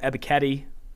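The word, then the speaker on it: Ebiketie: go you have to go penn state's arnold ebiketti that's how you pronounce it i asked him himself he's a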